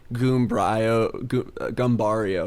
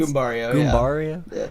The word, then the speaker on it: Goombario: Kind of like maybe some of his Smash moves involve, like, Gumbario. Sorry, is that how it's pronounced? Goombario.